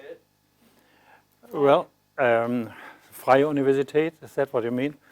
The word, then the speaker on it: Freie Universität: Well, Freie Universität, is that what you mean?